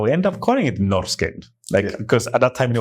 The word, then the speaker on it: Norrsken: But having been through the experience with Babylon, it's like, no, how it looks, that's how you're going to pronounce it. Like, if it needs to be someone in Rwanda who has never been to Sweden or heard an interview with the founder of Norrsken Foundation or any Swedish pronunciation, they need to be able to read it.